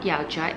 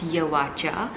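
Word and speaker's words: Yauatcha: my whole life guys it's actually not yaocha it's yawacha because yawacha means yao at cha so alan yao was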